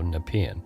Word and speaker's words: Nepean: Now I know how to say Nepean, because I have been mispronouncing it every time I've had to say it on the show. So Nepean.